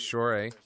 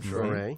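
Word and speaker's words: Shohreh: And there's Shore, right? That's how you pronounce her name. Shore.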